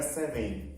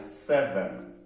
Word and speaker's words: seven: No 7 nós vamos falar, o S é super sonoro, né? Então, ó, seven. Não é seven, tá? É seven, ok?